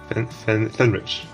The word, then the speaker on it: Fenrych: Give me the Polish pronunciation. Fenrych. Sounds very German, actually.